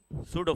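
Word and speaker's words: pseudo: वाला point it इज सूडो force तो यहां पर इधर लिख देता हूं चलो इट इज सूटो का स्पेलिंग क्या है हां पसो प यहां पर साइलेंट होता है तो सूडो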